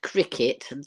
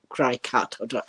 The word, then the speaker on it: Cricut: saying it is pronounced Cricket just like I said it so cricet as as the game of cricket but it's actually spelled c r i c u t I think so that's